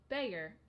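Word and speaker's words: Bexar: don't even like soda Baxter County in Texas is pronounced beggar okay well now I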